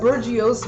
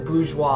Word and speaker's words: bourgeois: there i was like i don't know what bergios means and they're like first of all that says bourgeois and i'm like it's